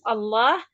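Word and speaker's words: الله: Khusus untuk lafzul jalalah ya. Hanya pada lafaz Allah yang sebelumnya didahului fathah dan dhammah. Itu pengecualiannya. Namun apabila diawali dengan harokat kasroh dia tarkik.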